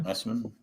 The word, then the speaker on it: Essman: Essman? Is that how you pronounce it? Yeah. Essman.